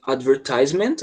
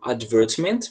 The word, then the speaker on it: advertisement: What type of advertisement, ou advertisement, tem duas pronúncias, are we showing on the image?